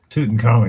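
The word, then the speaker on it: Tutankhamun: Tuten Common. Yes. Excuse me. I pronounced something wrong.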